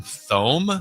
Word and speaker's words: Thome: Another tough pronunciation. Jim Thome. Jim Thome. Jim No, Thome.